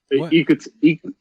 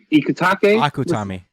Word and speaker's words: Akutami: You see that a lot in American comics, and god damn it, yo, Ikutake, Akutami.